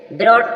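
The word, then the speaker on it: brought: H silent है coat coat means पकड़ा जी silent है ब्रोट ब्रोट मींस लाया जी साइलेंट है लाफ लाफ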